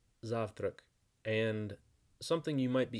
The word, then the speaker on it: завтрак: Zurich Zurich so the word for breakfast is pronounced zaft rec and something you might be interested in knowing